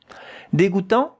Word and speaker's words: dégoûtant: Here, the last one, which corresponds to that letter and that letter, A-N, en, it's a nasal vowel. A bit of air has to come here out of your nose when you pronounce it.